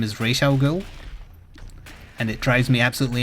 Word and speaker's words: Ra's al Ghul: American and therefore by default he most likely pronounces it incorrectly, so his answer doesn't count. Because if any of you said Raz Al Ghul, you're incorrect. His name is Ra's al Ghul.